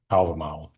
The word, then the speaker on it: Hávamál: A few more words for you today about Hávamál or in modern Icelandic pronunciation, Hávamál. I have been thinking about reading, translating, teaching this poem for a quarter century.